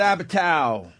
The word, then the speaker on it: Apatow: Judd Apatow!